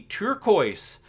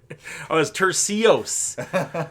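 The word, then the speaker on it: Turcios: It's Tercios. Tercios? Oh, Tercios is his name. Ricky Tercios. It is spelt turquoise, though.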